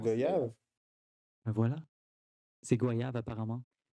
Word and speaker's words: goyave: Ouais, comment tu le Ah, prononces? Goyave.